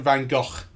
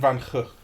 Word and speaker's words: Van Gogh: the last uh sort of period of Vincent Van Ho's life. Yeah. as as uh his brother pronounces it. Everyone in England just goes Vincent Van Go. But that's wrong, right? Vincent Van Hook.